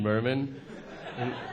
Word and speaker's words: Mirman: they're like how do you how do you pronounce it and I was like Eugene Merman and then they're like it's not Barbara riddle